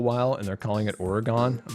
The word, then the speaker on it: Oregon: call Nevada but it's Nevada and Oregon is Oregon not Oregon oh my gosh when people say that it